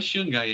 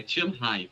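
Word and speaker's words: Shanghai: que alguém vi criticar pronúncia certa da cidade não é Shangai é tanhai tá acreditem o Mandarim É exatamente esse chhai e Emília romanha eram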